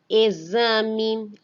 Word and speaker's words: exame: Exame, exemplo, exato, exótico, exibir, exagero, existir, êxito e exaltar. Nessas palavras, o X apresenta o som de Z.